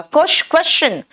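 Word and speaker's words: question: जब S के बाद T आता है ना तो वो श नहीं च बन जाता है।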